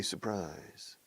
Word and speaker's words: surprise: a surprise supper says we say surprise surprise surprise the second syllable receives all the stress surprise surprise surprise a